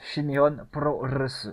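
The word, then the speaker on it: Shin Nihon Pro Wrestling: Je peux même vous donner le nom en japonais qui se prononce Shinihon Pro Wrestling, qui veut dire New Japan Pro Wrestling en gros.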